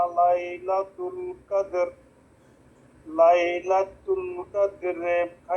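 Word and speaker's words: قدر: ইন্না আজালনাহুফি লাইলাতিল কদরলা কদর র কই রত শোনা যাচ্ছে না কদর উচ্চারণ আনতে হবে নালে কিন্তু অর্থের পরিবর্তন হয়ে যাবে কদর লাইলাতুল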